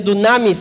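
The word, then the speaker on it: δύναμις: en el original griego esa palabra poder se pronuncia tsunamis en griego y significa la capacidad física o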